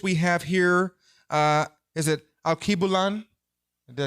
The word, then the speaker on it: Alkebulan: Is it Alkebulan? Did I say it right? Say it again. Alkebulan.